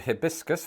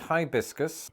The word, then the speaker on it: hibiscus: for this as in the British use of a short eye becoming a long eye in American English other examples include hibiscus versus hibiscus privacy versus privacy simultaneous